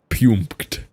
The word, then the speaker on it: Puempked: He typed Puempked and then sent me an audio message clarifying that he wanted it to be said that way and how to pronounce it.